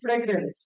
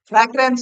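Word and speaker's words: fragrance: ফ্র্যাগ্রেন্স না, কথা ফ্রেগ্রেন্স।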